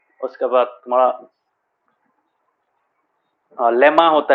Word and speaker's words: lemma: सर लामा। लामा नहीं, वो तो एनिमल है, वो नहीं, लेमा, लेमा बोलते, लेमा। सर मैं भी वही सोच रहा था। हाँ लेमा, this is the spelling, LEMMA।